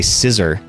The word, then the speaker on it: Scizor: pronounce it they say scissor which I guess makes sense because that scissors are a real thing scissor me timbers Clive